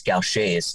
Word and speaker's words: Gaucher's: the rarest genetic diseases in the world the pronunciation is a little unusual it's gaucher's it was developed or discovered by a french